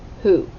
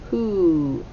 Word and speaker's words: who: a w w h who so tricky all right so the w is silent the w h sounds like h and the o sounds like ooh double o who the u sound as